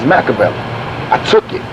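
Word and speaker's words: Makaveli: my name is not machiavelli my name is macavell i took it right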